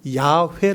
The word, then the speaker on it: 야훼: 글자를 놓고 쭉 하다보니까 가장 근접한 발음이 야훼 라는 발음이 에요 그래서 야외 라구요 네